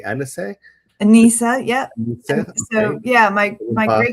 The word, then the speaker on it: Anisa: Anisa, yeah.